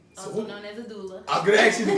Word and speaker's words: doula: So Also known as a doula. I'm gonna ask you the correct name. Say it one more time. A doula.